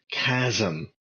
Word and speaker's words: chasm: up here bah bah it's pronounced chasm well maybe from you